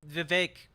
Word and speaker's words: Vivek: I'm sure Vivek rhymes with cake is going to have a great take on this.